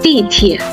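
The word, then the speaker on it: 地铁: In Chinese, it's dìtiě. Pronounce it with me, dìtiě.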